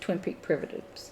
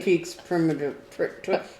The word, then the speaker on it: Twin Peak Primitives: Now, I've never done any Twin Peak Primitives. It's usually, Peak primitives. that's what I said. I always say it wrong. I always say Twin Okay. Peaks primitive. Put the X in the wrong place, like that Jimmy John's commercial.